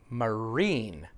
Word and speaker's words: marine: He meant to say marine, second syllable.